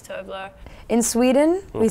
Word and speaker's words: Tove Lo: How do you pronounce Tove Lo? Well, she says Tove Lo. She says Tove Lo.